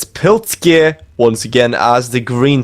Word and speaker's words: plKzYEe: Apparently it's plKzYEe.